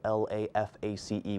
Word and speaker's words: LaFace: Merriam-Webster Dictionary also commented on the matter, saying, of course a word that is spelled L-A-F-A-C-E would be pronounced LaFace.